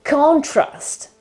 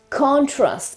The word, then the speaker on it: contrast: very same way but they are pronounced in two different ways because the stress is put on a different syllable depending on the fact